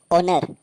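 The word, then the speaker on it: honour: हमेशा साइलेंट होता है जैसे ओनर एच ओ एन ओ यू आर इसको हम ओनर पढ़ेंगे क्योंकि रूल के अनुसार ओ से पहले एच हमेशा साइलेंट होता है इको ई सी एच ओ इसको हम इको पढ़ेंगे क्योंकि रूल के अनुसार अगर एओ से पहले आता है तो एच साइलेंट होता है तो इस वीडियो को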